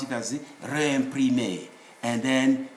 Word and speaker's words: réimprimé: We should pronounce it as réimprimé, and then said.